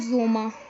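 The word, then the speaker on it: Sommer: तो यहाँ पे ये जो है सबसे पहला इसको पढ़ा जाएगा जोमा, और वो आर जो लास्ट पे आर होता है उसको साइलेंट कर देते हैं।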